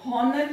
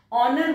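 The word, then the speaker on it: honour: ऑनर, हॉनर नहीं बोला जाता है, ऑनर बोला जाता है, तो यहां पर एच साइलेंट है।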